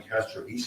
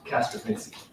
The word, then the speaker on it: Castrovinci: Fair enough, and I think it was Patrol Sergeant at the time, Castro Vise, is that how you pronounce his name? Castrovinci. Yeah. Technically, but it's commonly said Castrovinci.